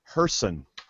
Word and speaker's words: Gerson: Gerson is pronounced Herson.